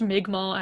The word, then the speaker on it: Mi'kmaq: It's pronounced Mi'kmaq, actually. Anyway, conspiracies.